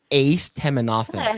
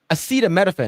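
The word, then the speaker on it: acetaminophen: Oh, it's it's he pronounced it ace teophen. He's supposed to It's It's aceta metaphan and he's like ace teafen.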